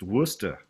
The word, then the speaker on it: Worcester: It's a common sight, that word, Leicester, and it's just pronounced different, as we call Worcester, Massachusetts, Worcester.